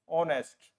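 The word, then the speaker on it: honest: से लिखा जाता है जब इसकी प्रोनंसिएशन आप करेंगे ऑनेस्ट ओ आता है इसमें एच साइलेंट रहता है ठीक है तो एन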